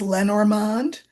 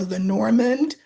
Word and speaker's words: Lenormand: intrigued by the cards, the system is Lenormand or Lenormand or Le Normand, however you want to pronounce it.